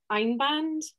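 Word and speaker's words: Einband: you can see that one um and it's pronounced ein band and it is a two ply and i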